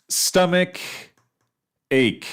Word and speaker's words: stomachache: uh really quite fascinating stomach ache stomach pronunciation hard K ache hard K you have a stomachache